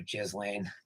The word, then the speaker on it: Ghislaine: Because further on this story, I found out that Ghislaine Maxwell, I call her Ghislaine because that's how it's spelled.